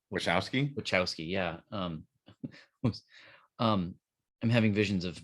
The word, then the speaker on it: Wachowski: Wachowski, yeah.